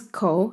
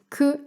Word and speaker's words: 口: The Middle Chinese pronunciation was Q. This becomes ko in Chinese, ku and ko in Japanese, and gu in Korean.